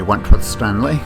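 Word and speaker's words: Wentworth-Stanley: This is Wentworth Stanley. I'm the fellow who has a hyphen in my name. The hyphen is silent, but I am anything but that.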